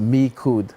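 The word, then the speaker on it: Micoud: I grew up in the born and raised in the fishing community of Mikud. It's pronounced Mikud. Mikud.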